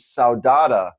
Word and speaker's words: saudade: And then there's another one that's not so great called, the pronunciation is saudade, Saudade.